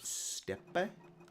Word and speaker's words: Steppe: Courage Steppe? I know it's pronounced step. I know it is pronounced step.